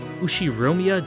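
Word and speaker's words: Ushiromiya: anyway this is one of my cousins yep pronounced ushi romia George he's 5 years older than me and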